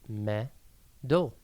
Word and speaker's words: meddle: It is pronounced me-dull, and it is spelt M-E-D-D-L-E. Think med and then ul.